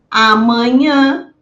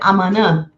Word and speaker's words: amanhã: Prestem bem atenção e pratiquem esse nh, porque muitas vezes a interferência do espanhol faz com que a gente não pronuncie o H. Então, não é correto dizer amanã, é amanhã. Não digo manã, eu digo manhã.